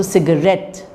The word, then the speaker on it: cigarette: rest okay uh in the word for example cigarette which is three syllables the third syllable is more prominent than the first syllables okay which is more Pro prominent than the second syllable all right so cigarette so the r is the most prominent but the Sig has slight prominence uh has no prominence